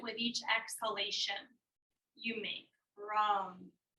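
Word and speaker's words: ram: the solar plexus chakra r a m pronounced wrong wrong if you say it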